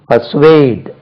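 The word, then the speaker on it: persuade: தன்னுடைய வழி இசையை செய்வது பர்சுவேட் பி ஆர் எஸ் யூ ஏடி E check பண்ணிக்கிறேன் எஸ் யூ ஏடி இ உச்சரிப்பை கவனிங்க பசுவேட் இதை பார்த்தா பர்சுவேட் மாதிரி பர்சுவேட் பர்சுவேட் பர்சுவேட் ப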